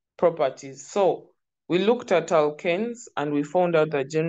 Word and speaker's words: alkanes: So the pronunciation of that word is alkanes, because when we get to alkynes, it will also be there.